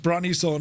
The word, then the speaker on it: Brønnøysund: I could have, if you weren't here, I would have said it's pronounced Brønnøysund because Rambog told me.